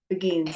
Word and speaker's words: beguines: Did I pronounce it right, Sister Joyce? Beguines? Begins, yeah.